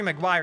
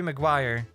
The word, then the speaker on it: Maguire: Toby Magguire. Okay, it's not Magguire, it's Maguire. Toby Maguire. Okay, I did it. I made a mistake. I apologize. I apologize. It's uh Toby Maguire.